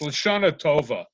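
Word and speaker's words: L'Shana Tova: And Moshe, again, you have to use the Ashkenazi pronunciation, not the Sephardic pronunciation. It's Lashana Tova. Accent gra, okay. accent agu on the first syllable.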